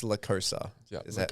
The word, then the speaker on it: La Cosa: They pronounce like La Cosa. Yeah. It's La Cosa.